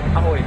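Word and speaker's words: Ahoj: How is it pronounced? Ahoy.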